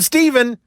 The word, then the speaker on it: Steven: Even Steven, that's, my name. It rhymes with the word even. Doesn't really rhyme with too much more except for maybe leaving.